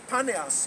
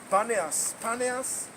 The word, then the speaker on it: Paneas: And they named the place Paneas, but when the Arabs came many years later, they had the problem to pronounce the letter P.